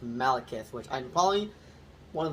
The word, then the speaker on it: Malekith: I think it's just pronounced Malekith, which I'm probably one of those... I wouldn't say the only person, but just... I just still though, it's pronounced Malekith.